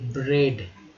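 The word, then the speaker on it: bread: तो रोटी, ब्रेड, ए को ए पढ़ा गया, ब्रेड।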